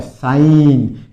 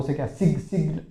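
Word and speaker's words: sign: साइन। इसमें जी साइलेंट रहता है। ध्यान रखना। बो सिग्न सिग्न बोलते हैं। सिग्नल नहीं होता है। साइन मतलब जी इसमें साइलेंट रहेगा।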